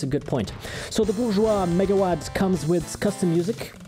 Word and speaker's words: Bourgeois: also run bourgeois and yes that's how i pronounce it bourgeois in proper concept but anyway enough talk let's